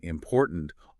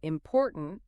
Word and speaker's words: important: Well, if you were to say computer or important, emphasizing those first syllables, it would sound strange to a native speaker.